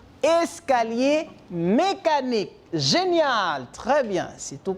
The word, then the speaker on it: escalier mécanique: Comment ça se prononce? Escalier mécanique.